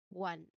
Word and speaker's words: one: So it is phonetically challenging because despite being spelled with the letter O at the beginning of the word it, you know, it does not sound like the long letter O which is its basic sound at the beginning of the word. It does not sound like that. It begins with a clear W sound.